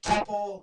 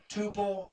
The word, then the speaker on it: tuple: in a new word a temple or tuple depending on how you want to pronounce it your way is all